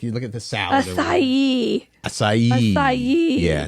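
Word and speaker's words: açaí: This one should be acai, but it is not. Acai. Oh my God. That word gets me every time. 4 letters. Acai. Come on. A-C-A-I. Like you look at the salad. Acai.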